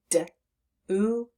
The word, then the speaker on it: do: making the sound D but the O is making the ooh sound and we do not expect that with our letter O when it's all by itself like that and so that's